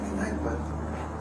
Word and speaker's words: Kneipe: Kneipe So, it's really a Kneipe.